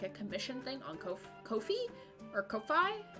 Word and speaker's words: Ko-fi: on their website that it's pronounced ko-fi. Like, ko, and then fee, as in, like, you have to pay this fee.